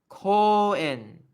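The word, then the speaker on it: 公園: to spell it out, it's actually Kouen, but the U kind of gets absorbed by the O when it gets romanized, but it's like Koen, Koen.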